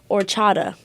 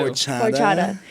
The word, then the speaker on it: horchata: Okay, first of all, what y'all need to order up when you get there, horchata. Ooh. Horchata. Horchata. You don't. It's spelled horchata.